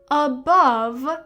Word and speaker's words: above: And the e is not pronounced at all because it is an e at the end of a word which are not pronounced.